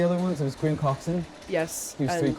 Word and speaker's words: Coxon: Graham Coxon? Is that right? Yeah, pronounce that right.